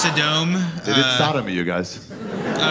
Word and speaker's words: Sodom: It's pronounced Sodom.